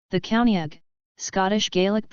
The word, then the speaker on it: Caoineag: the County ag Scottish Gaelic pronunciation is a female spirit in Scottish folklore